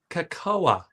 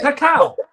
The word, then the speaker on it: cacao: He pronounced it cocoa. Oh, And I'm like, seriously? Real Men, Real Style with millions of subs? You're pronouncing that shit cocoa? I guess you could pronounce it that way, but nobody does. I've always thought it was cacao, It's but cacao.